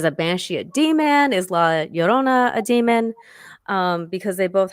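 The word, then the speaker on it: Llorona: And if you guys look this up, it's Llrona. So that's how you say it. 2 L's.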